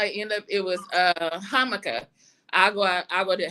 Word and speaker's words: jamaica: up it was uh hkah I go I go to hkah which is is Jamaican it's it's spelled Jamaican in English but they say so it's basically habiscus